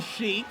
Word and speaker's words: Sheik: RVD trained by the original Sheik, properly pronounced Sheik, Sabu's uncle.